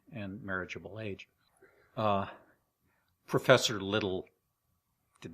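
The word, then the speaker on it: Liddell: the interwar period it's little that's how you pronounce it l i d d l e l yeah little as in little and Scott the Greek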